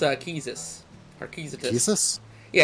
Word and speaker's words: Quistis: i get it um because she actually it's pronounced uh keysis or keys yeah it's fresh it's french yeah